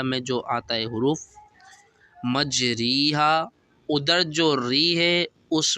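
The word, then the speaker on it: مجريها: پڑھتے ہیں پیچھے ہجے، اور صرف ری کی جگہ رے کریں گے، تو یہ حروف بن جائے گا مجریہا کی جگہ مجریہا۔ اب یہ حروف ہے کہاں،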